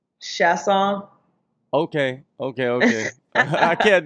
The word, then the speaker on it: Chiasson: me oh how is it supposed to be pronounced chasse aw okay okay okay I can't do that that's